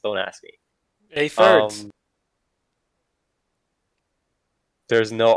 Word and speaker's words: A3ders: I don't know how that's pronounced. Don't ask me. A-thirds. There's no R. A-thirds.